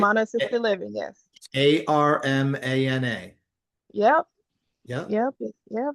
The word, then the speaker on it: Armana: Armana.